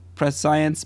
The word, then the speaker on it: prescience: Because it's like spelled like prescience, but it's like conscience is C-O-N. I don't know. So I assume it's prescience, like I think conscience. prescience would work.